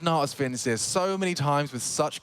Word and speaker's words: Natus Vincere: Regarding if we are saying Na'Vi's full name and want to say it correctly as in the Latin, it's actually pronounced Natus Vincere.